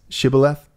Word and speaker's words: shibboleth: the ephraimites right the word that they couldn't pronounce shibboleth okay right is that how you say it